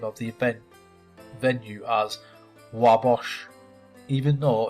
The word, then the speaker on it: Wabash: of the venue as Wabash, even though it's fictional. The setting is in Chicago and anyone in the region would know that it is named for the Wabash River, which is pronounced Wabash apparently.